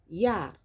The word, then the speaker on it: Jahr: La lettre J est un J, donc se prononce comme un Y en français. Das Jahr.